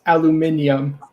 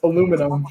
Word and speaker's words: aluminum: right correcting our pronunciation it's aluminium i hate that pronunciation that is the uk way to say it right british speak it's aluminum that's the way you say it come on guys and